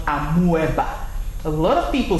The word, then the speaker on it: amoeba: The word is amoeba. Amoeba. amoeba and not amoeba.